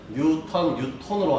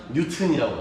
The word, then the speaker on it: 뉴턴: 뉴톤으로 하는 게 맞아요. 네, 그 나라에서 발음이라면 이게 맞아요. 근데 얘들은 뭐냐? 뉴튼이라고 하지.